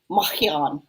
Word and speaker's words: Marian: My name actually pronounced in French is Marian.